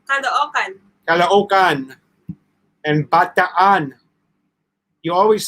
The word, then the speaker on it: Caloocan: Jim Schultz, yeah, it's Caloocan. You pronounce it Caloocan.